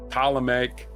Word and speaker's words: Ptolemaic: Her death in 30 BC marked the end of the 300-year Ptolemaic dynasty. Other birthdays today, Mariah Carey is turning 57. Ptolemaic. What? Yeah, Ptolemaic. the P is silent.